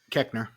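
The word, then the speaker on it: Koechner: Collette and everything, and David, I can never pronounce his last name, from Run Ronnie Run and Saturday Night Live. Keckner.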